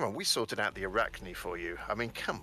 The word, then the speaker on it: Arachne: In England, we don't pronounce it Arachni, we pronounce it Arachne.